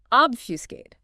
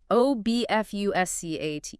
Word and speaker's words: obfuscate: Obfuscate. O-B-F-U-S-C-A-T-E. Obfuscate. 3 syllables, stress on the first.